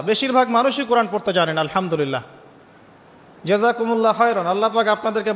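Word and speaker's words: الحمد لله: আলহামদুলিল্লাহ। এই হা এর মাখরাজ কোথায়? হা এর মাখরাজ কোথায় বলেন একজন? কণ্ঠনালীর মাঝখান থেকে। এখান থেকে আপনি উচ্চারণ করছেন আলহামদুলিল্লাহ রব্বিল আলামিন।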